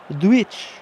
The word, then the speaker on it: Djuric: Something about got to say it like a proper Croatian. Djuric.